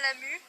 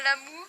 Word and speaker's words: Lamu: Oui, c'est moi, et ça se prononce bien Lamu, pas Lamou, n'est-ce pas X-Borels?